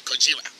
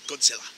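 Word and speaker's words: Gojira: i pronounced that right it is actually kajira not good seller that is the American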